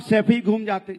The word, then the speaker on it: सैफई: आनंद, गरीबी देखनी है ना तो सफाई में जाके देखिए, 500-600 करोड़। सैफई तो बोलना सीख जाओ, सफाई नहीं है, सैफई है।